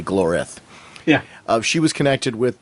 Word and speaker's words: Glorith: is a character who glorif isn't glorif i think is how it's pronounced i keep i keep throwing an n in there i keep calling her glorynth but it's really glorif yeah she was connected